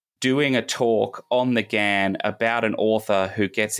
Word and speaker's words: Ghan: up and down and everyone in Australia pronounces it the Gan but um it's technically a shortened version of the Afghan Express was the original name so Gan is is how you're supposed to it but I will